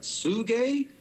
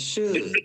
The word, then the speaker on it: Suge: recorded, but, I remember when I was like, Sugi? He's like, nah, it's Suge, nigga, it's Suge.